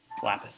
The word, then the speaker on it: Lapis: how do you say yeah it's like the stone it's like it's like the stone lapis lazuli lapis sighs okay so lapis